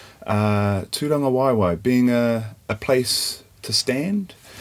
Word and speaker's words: Tūrangawaewae: tea you met Kron don't forget the macron ra in GA w AE w AE - Don the Y